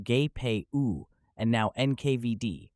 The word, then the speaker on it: GPU: names first the Czech then the GPU pronounced gay and now nkvd pronounced